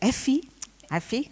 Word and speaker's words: Effie: uh by like by this order f f Effie I said it right Effie Mariani she's kind she's from Indonesia we just